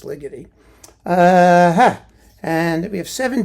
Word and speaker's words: Ligeti: It's Ligy. I mean, you can pronounce it legi like spaghetti, but I think it's liy.